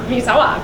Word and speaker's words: Misawa: week get this it's coming to us from Misawa Misawa Japan okay so ad did you have to Google it how I did I actually Googled how to pronounce that M Misawa Japan Misawa Misawa very good okay anyways so it's coming to